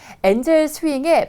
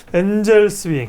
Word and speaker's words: 엔젤스윙: 네, 엔젤 스윙, 네, 대학생들이 만든 벤처 모임인데요. 엔젤 스윙입니까? 엔젤스 윙입니까? 회사 네. 소개 좀 해주세요. 네. 저희 그 엔젤 스윙은 네. 이제 그냥 엔젤 스윙이라고 발음을 하면 되고요.